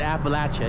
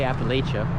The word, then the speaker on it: Appalachia: Okay, here we are in Appalachia, which locals tell me you need to pronounce it Appalachia, you can't say Appalachia.